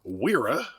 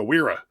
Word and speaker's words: Wera: which is this here, Wira fourpiece self setting Spanish set. I think that W you're supposed to pronounce with a V sound.